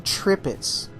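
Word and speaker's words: Tirpitz: We are in the Tripits. That is actually how you pronounce it. It is a German pronunciation.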